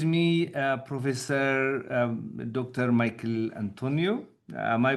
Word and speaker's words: Antoniou: Michael Antonio. Am I pronouncing your name right? Uh, it's near enough. Antonio would be more accurate, but that's good enough.